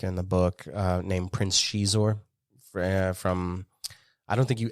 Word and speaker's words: Xizor: I don't remember what species he is, but the character's name is Prince Shizor, spelled with an X, Xizor.